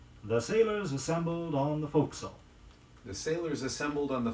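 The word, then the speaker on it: forecastle: will tell you that the preferred pronunciation for the term referring to the forward part of a merchant ship is fo'c'sle the spelling doesn't bear much resemblance to the pronunciation f o r e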